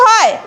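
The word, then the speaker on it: who: তাহলে এটার উচ্চারণ কি হয়। তাহলে আমরা এটা খেয়াল রাখবো ডব্লিউ এর পরে, বলো আমার সাথে বলো, ডব্লিউ এর পরে এইচ বা আর থাকলে ডব্লিউ এর উচ্চারণ হয় না। যেমন রাইট, রং, হু।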